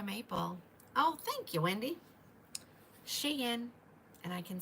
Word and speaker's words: Shein: Shein, and I can say that and say it with confidence because one of you ladies told me that's the correct pronunciation.